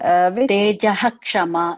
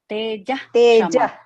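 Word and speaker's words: तेजः क्षमा: Okay, should we pronounce like Tejaha Kshama or Teja Kshama? Yeah, both are right. Both are considered right.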